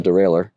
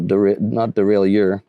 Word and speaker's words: derailleur: But yeah, the correct pronunciation is derailleur, not derailleur.